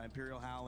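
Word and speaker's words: Imperial Hal: Imperial Howl and that's how you say it, right?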